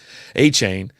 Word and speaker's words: Etienne: I've been calling it the pronunciation of this name, A-Chain. It's going A-Chain. I'm just going to keep calling him A-Chain or A-Chain.